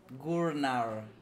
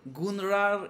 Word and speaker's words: Gurnar: Okay, Mish, one warning, say my name correctly. Gurnar. I was practicing it the whole week. No longer Gunnar, you'll be Gurnar. Gurnar. Like Ragnar Lothbrok and Gurnar.